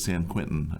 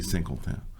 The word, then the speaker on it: Saint-Quentin: Okay, otherwise pronounced as San Quentin for those of us in here in America, but they say Saint-Quentin.